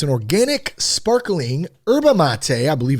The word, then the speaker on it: yerba mate: So how's it pronounced? Yerba mate. Yerba. Here's the best part though about Clean Cause. Okay. Mate. This is the final mate. Yerba mate.